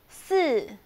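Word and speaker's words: 四: san okay number four su as falling tone again and the pronunciation it's not she or so it's keeping your teeth stuck together okay number five the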